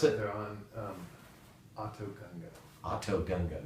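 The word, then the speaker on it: Otoh Gunga: How do you pronounce it? They're on Autogunga. Autogunga, not Utagunga?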